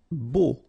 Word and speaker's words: beau: Beau. Okay, so remember we've got this strange combination of vowels. A, U, so three vowels, but then phonetically it's only O. Okay, so beau.